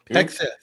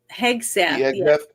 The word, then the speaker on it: Hegseth: Hegseth. Hegseth.